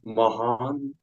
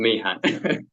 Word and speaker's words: Mahan: Uh, Persia called Mahan. In this atmosphere it's called Mahan.